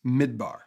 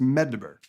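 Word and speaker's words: מדבר: four consonants mdbr because in hebrew language there's no vowels mdb are translated as desert or wilderness and is pronounced midbar and at the same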